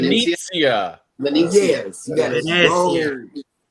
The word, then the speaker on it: Venezia: I know that you're on the Venecia. Mhm. Venetia. You got to say it like that, John Hill. said. Venezia.